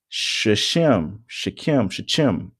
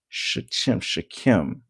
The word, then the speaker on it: Shechem: Shechem. I want to say that's how it's pronounced.